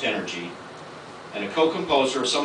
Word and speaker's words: NRG: leader of Kevin's first band NRG pronounced energy and a co-composer of